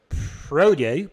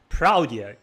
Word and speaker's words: praudio: call this uh library prodo but the pronunciation that I have in mind it's not prodo is actually prao so you'll hear throughout